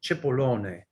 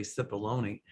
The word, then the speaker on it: Cipollone: Actually, in Italian, it's pronounced Cipollone. But in English they say Cipollone.